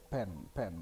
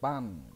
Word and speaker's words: pan: Pen left, pen bacanya pen left. Ada yang nyebut pan ya, itu kalau sudah di versi Indonesia kan pan kanan, pan kiri.